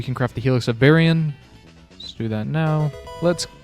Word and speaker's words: Baryon: Okay, so I looked it up and it is Baryon.